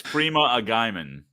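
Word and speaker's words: Freema Agyeman: Charles mispronouncing things is totally on brand. It's okay. Yeah, that's true. 110%. I'm sorry. It's Freema Agaiman.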